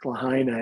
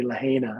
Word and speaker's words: Lahaina: and things like that i mean like lahaina it likes to say lahina and i had to